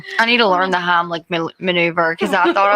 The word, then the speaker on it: Heimlich: the Heimlich, what is it called?